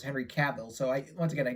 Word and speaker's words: Cavill: his last name correctly in my earlier videos i kept pronouncing henry seville but it's henry cavill so i once again